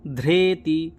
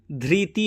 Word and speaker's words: ধৃতি: ঋ থাকলে কি হবে ধ্রেতি ধ্রেতি তো ঋ টাকে আমরা কি বলি রে বলি ঋ রে তো ধ্রেতি ধ্রেতিস জজিও ধ্রেতিস জজিও ঋ থাকলে যজুর্বেদে রে উচ্চারণ হয় ধ্রেতিস জজিও কখনোই ধৃতি হবে না সবসময়ই ধ্রেতিস জজিও ধ্রেতি